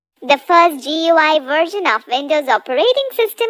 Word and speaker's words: GUI: Windows is a graphical user interface, GUI, pronounced as GUI, between a computer and its user.